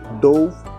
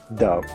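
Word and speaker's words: Dove: Do це неправильно. Воно читається дав.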